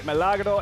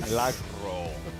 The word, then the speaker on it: Milagro: Gotta teach you how to roll your R's, Richie. Lady Milagro.